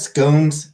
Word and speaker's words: scone: we had scon for who says scones and who says scon I think both are correct biscuits there I don't